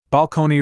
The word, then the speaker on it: balcony: Balcony rhyming with pony, and peony rhyming with pony.